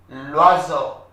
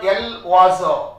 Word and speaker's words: l'oiseau: L'oiseau. It's not l'oiseau. It's l'oiseau. L'oiseau. Next.